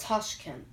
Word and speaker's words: Tashkent: of used Baptist and I don't know how to pronounce it but I think it's pronounced Tashkent yeah yeah I didn't know